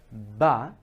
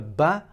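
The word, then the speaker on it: باء: You can already tell that the letter Ba, just like in English B, you're sort of squeezing your lips together, you're pressing your lips together, and they are from the outermost part of the lips, the outermost part of the lips. The ba is coming from the outermost part of the lips. Ba. Just like in English, B. B for B, right?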